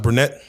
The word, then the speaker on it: Brednet: Is it pronounced brunette?